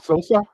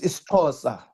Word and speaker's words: Xhosa: Sosa? That is Xhosa. Xhosa. I'm coming from a closer Oh, see, I tribe. can't pronounce it right.